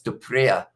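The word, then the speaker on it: du Preez: It's like saying the word spree without the S, pronouncing the pre as well. So it's Duprea, I believe, if I'm not wrong.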